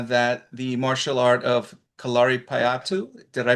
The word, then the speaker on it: Kalaripayattu: So in you are in Kerala and in Kerala I know uh that the martial art of kalari patu did I pronounce that correct?